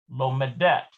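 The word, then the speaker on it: לומדת: lamid which equals two note that while the singular forms the stress falls on the mem so we've got lomed lomadet it is shifted to the last syllable in the plural forms lomadine lomadote so you see how these are bold that just means the emphasis is shifted in plural to the end rather than in the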